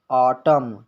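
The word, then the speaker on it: autumn: एम के बाद एन आता है तो एन साइलेंट रहता है जैसे आटम यहां पर एम के बाद एन लगा होना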